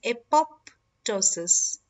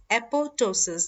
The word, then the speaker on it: apoptosis: is not pronounced as apoptosis it is pronounced as apoptosis the second P is silent okay now before we